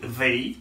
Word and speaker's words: they: Et nous gagnons troisième day ça qui c'est they. Ouais, la langue entre les dents, TH là, les prononcer.